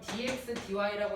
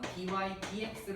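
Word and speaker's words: dy/dx: 자 그럼 dx dy라고 읽는 게 아니라 얘는 항상 dy dx로 읽는 겁니다.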